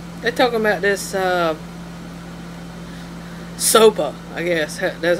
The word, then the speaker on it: SOPA: They're talking about this Sopa, I guess.